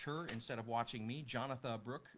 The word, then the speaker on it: Jonatha: Jonatha Brooke, Jonatha spelled like Jonathan, but without the N.